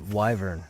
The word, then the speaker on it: wyvern: want to pronounce it I've always said wyvern but a lot of people say Wy Bur that was a weird